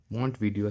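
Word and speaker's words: Montevideo: बस आप वीडियो से याद रखिएगा, ऑप्शन कोई आपको बताना या लिखना नहीं है, वीडियो से आप याद रखिएगा, मोहित वीडियो, मोंट वीडियो से प्रोनाउंस करते हैं।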